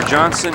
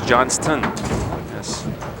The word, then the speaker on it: Johnston: six pin Advantage for Johnson and Farrell and so here is Bob Johnston I pronounce that Johnson it's Johnston you got mafeo but